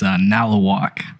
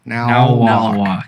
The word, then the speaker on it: Nalewak: Now, so okay, this is how you say it. It's Nalawak. Now walk. So Yeah, like now walk.